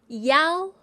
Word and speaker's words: iao: IAO in Pinyin is pronounced as yao, yao. It sounds like EOW as in meow, okay?